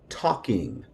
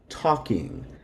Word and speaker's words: talking: interactive action number two talking talking now when we have the combination of a lk the L is silent so in Spanish and Creole it's going to sound like this talking talking same thing here with